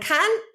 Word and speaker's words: can: So if I say, oh yes, I can speak French, the stress is on speak, and can is very quick.